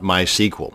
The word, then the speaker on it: MySQL: to create a mySQL database and yes it's pronounced MySQL not MySQL so the next time you're at a dinner